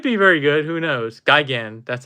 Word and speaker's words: Gigan: version it could be very good who knows Gigan that's how you pronounce it yeah yeah Grimlock and transferring are